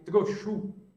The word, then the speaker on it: Trochu: Bernadette, escrita pelo padre Trochu. Se escreve do jeito que se fala, Trochu, T-R-O-C-H-U, Trochu.